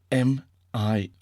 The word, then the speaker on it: mirage: M-I-R-A-G-E is pronounced mirage, said Valancy shortly, picking up her tea and her beans.